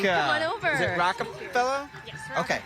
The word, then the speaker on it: Rockefeller: Is it Rockefeller? Yes, Okay. Rockefeller. Jessica Rockefeller from Illinois. Yes. And how do you pronounce the name of your town?